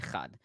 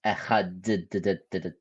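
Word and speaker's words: אֶחָד: Religious Jews, when they say the Shema, they will try to elongate the word Echad. But interestingly enough, since the sound has diverged from biblical times, and they don't pronounce that letter as it probably was originally, you can't really elongate Echad. So they normally will elongate the second letter.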